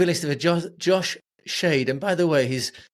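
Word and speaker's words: Schaidt: of a Jo Josh shade and by the way his surname is spelled s c h AI d t it sounds like a sort of a Word Scramble game um but it's pronounced shade so that's how you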